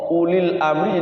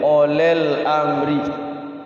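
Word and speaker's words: أولي الأمر: sama u itu jelas jangan sampai u dibacanya o o jadi O ulil amri jadi olel olel Amri to utul jadi otol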